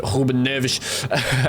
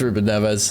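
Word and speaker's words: Rúben Neves: H Rodri starting with this team alongside Mel Marino and Huben Nervish. Just a the funny way Portuguese names are pronounced. It's it's Ruben Neves.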